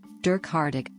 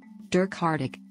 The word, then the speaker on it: Dirk Hartog: Derk hardik dirk hardik Dutch pronunciation baptised October 30th 1580